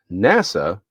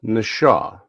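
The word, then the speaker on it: נָשָׁא: They have the phonetic pronunciation right here. Strong's 45377 isn't NASA. It's Nashaw.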